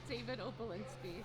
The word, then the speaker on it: Opalinsky: Pronounce his name. David Opalinsky. Opalinski.